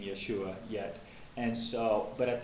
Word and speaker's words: Yeshua: conclusion that the um what would be the best pronunciation for me that I felt best with was Yahweh for the Tet Graton and Yeshua for the son now in the Old